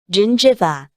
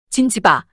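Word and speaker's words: gingiva: 반면지가 두 번째 모음 그룹인이나 아이 앞에 올 때는 제로 발음합니다. 진지바 진지바 잇몸의 의향 용어입니다.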